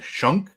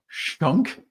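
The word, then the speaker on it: Schunk: Yankees lineup is good uh um see Aaron Shunk is a is a player that's playing third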